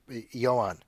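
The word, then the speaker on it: Ioan: But how do you pronounce that? Oh, Yoan.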